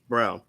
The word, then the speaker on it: Braun: How the hell is it Christian Brown if it's spelled Braun? Who was the dude who used to play for the Milwaukee Brewers who was on them steroids and he lied about it? Braun. Ryan Braun. Yeah, his name's spelled just like that. But all of a sudden, you're supposed to tell me it's Brown.